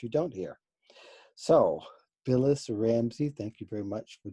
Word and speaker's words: Rambsy: you do and the services Instagram it is Ramsey and it's just are a MMB Syl aw don't even ask it's pronounced Ramsey but it's spelled are am b sy so